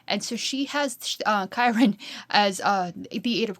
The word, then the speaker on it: Chiron: I will admit for the longest time I was calling this Shyron, you know, spelled C H I R O N, but I actually looked it up and it's Chiron.